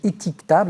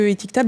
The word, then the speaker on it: Étiquetable: Louise Cerezo-Layani qui dirige Étiquetable. Alors éthique, E-T-H-I-C, ça s'écrit à l'anglaise. Table, ça se prononce à la française.